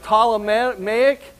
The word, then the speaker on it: Ptolemaic: The ones I want you to notice tonight is this P is silent, Ptolemaic Empire, and Seleucid Empire, okay?